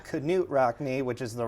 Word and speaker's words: Knute Rockne: We currently have our biggest exhibit right now, Knute Rockne, Life and Legacy, or I should say Knute Rockne, which is the right way to pronounce it.